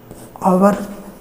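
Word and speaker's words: hour: जैसे लिखते हैं ऑनेस्ट, ऑनेस्ट, आवर, हॉस्टाइल। ऐसे बहुत से शब्द हैं जो ये साइलेंट हो जाता है, ये साइलेंट हो जाते हैं, उच्चारण स्वर से होता है, इसलिए आइन का प्रयोग होता है।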